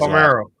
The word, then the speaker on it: Palmeiro: Give me the correct pronunciation of his Palmeiro. Palmeiro.